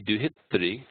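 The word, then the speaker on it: duhitṛ: we talked about pronunciation, we said that re is actually a vowel. It's not, if this was the R consonant followed by the E vowel, then it would be duhitri. It's not. Duhitri. Duhitri.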